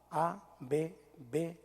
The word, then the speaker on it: Abba: A-B-B-A. Incluso me puse a investigar un poquito. La manera de pronunciarlo era un poco con el labio, así, Abba. Va, junte los dos labios, por favor.